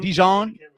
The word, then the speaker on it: Dijon: Dijon. He said the J is silent.